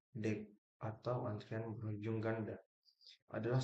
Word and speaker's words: deque: The queue diucapkan DEQ atau antrian berujung ganda.